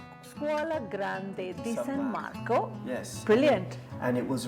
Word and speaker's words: Scuola Grande di San Marco: So tell me again about your institute, how to say it well. Yes, it's called the Scuola Grande di San Marco. Scuola Grande di San Marco.